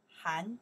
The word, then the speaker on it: 寒: Han jia, winter vacation. Han jia. Okay, that's the character we pronounce Han. By itself means cold.